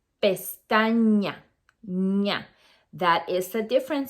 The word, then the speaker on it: pestaña: We don't say pestana, we say pestaña.